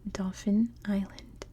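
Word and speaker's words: Dauphin Island: I now know that it's pronounced exactly the same as like a dolphin it's Dolphin Island here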